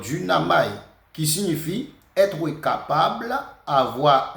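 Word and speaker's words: δύναμαι: là et c'est euh duamaï d'une qui prononcé comme du naï qui est de U n a m a I donc du namaï qui signifie être capable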